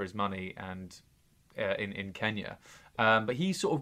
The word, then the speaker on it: Kenya: money and in in Kenya um but he sort of goes along with it Kenya isn't that amazing they all pronounce it Kenia Kenia um so yeah so